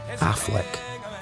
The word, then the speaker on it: Auchinleck: Anciently pronounced and sometimes spelt Affleck, Auchinleck is Boswell country.